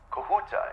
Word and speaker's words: Kahuta: quota client is ready it's going to the kahuta plants okay kahuta is that the correct pronunciation am I saying that right yes okay